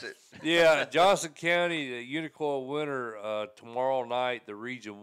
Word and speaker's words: Unicoi: Am I saying that right? Unicoi. That's the way you say it.